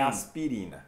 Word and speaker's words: aspirin: Então, a gente junta para aspirin. Uau. Aspirin. Aspirin. Aspirin, não é aspirin, é aspirin. Duas sílabas, aspirin. Então esse i, ó, como está aparecendo aí, meio negrito, né? Não é pronunciado.